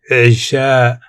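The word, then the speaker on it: عشاء: Pronounced Sha. Isha.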